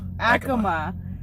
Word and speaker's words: Acoma: Acoma, New Mexico. I've always called it Acoma all these years, and I was set straight tonight.